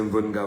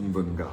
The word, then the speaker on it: Mvenga: ma page Facebook, c'est Mvenga Voice, je prononce cela en langue Medimba, Mvenga Voice, parce qu'il s'agit également d'une appellation qui m'est propre en pays bangantais. Quand vous dites Mvenga, on sait exactement ce que vous êtes.